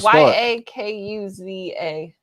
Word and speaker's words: yakuza: Y a ku za yakuza.